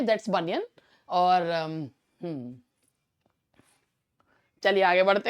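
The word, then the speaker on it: Bunyan: That is बनियन। कुछ का मन इसे बनियान कहने का करेगा, और जिस तरीके का प्रोनाउंसिएशन हम लोग सुनते रहते हैं तो मन करेगा कि हम इसे जॉन बनियान कह दें, जॉन बनियान, बस आगे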